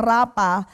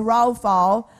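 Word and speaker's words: rapha: word heals here is the word raw FAO yyan po ang pronunciation binabasa po natin ng rapa but it's raw FAO and it means to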